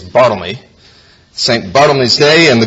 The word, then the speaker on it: Bartholomew: and judy show it's saint bartholomew's day actually pronounced in those days bottleney saint bottomless day and